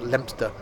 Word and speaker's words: Leominster: Craven Arms, Ludlow, Wofferton, Leominster, not Leo Minster, Morton on Lug, never heard of that, Shelwick, and then finally ended up in Hereford on part 1.